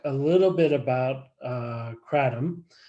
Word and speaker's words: kratom: it's originating from is kratom so they actually put sort of a emphasis on the tom parts but we'll we'll talk